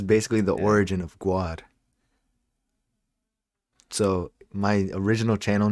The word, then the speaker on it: GWAD: yeah, I didn't I didn't know how to pronounce it. So I called it Gwad, which is what we use now.